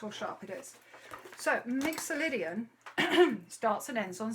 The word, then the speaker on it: mixolydian: off on your photocopy mixolydian let me show you let me show you that word mixer lydian mixolydian um have we got